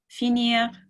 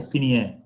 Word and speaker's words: finir: Is it finir or finier? Finir, Finir. yeah. So it's got that little the R sound at the end of it, finir.